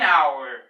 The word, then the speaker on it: hour: An honest, an hour.